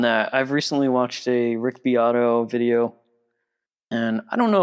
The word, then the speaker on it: Rick Beato: Rick Beato, like Beato. Rick Beato. Yeah. Okay. Like Beat-O. Beat-O.